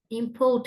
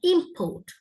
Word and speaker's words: import: ஸோ we pronounce we stress in import என்றது வந்து நவுனாக இருந்தா import, right? Verb and import, right? So the pronunciation changes accordingly, according to whether it's a noun or a verb.